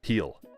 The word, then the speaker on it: Gil: otto luis heal and gil is it is pronounced hill heel luis heel for those that aren't